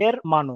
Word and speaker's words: hermano: So el hermano, h is silent, hermano.